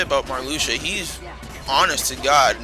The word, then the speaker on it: Marluxia: GBA com came out I'm sure no one knew how to pronounce his name cuz I kept calling him Mario I'm pretty sure everyone called it Maria but no it's marusia and you honestly can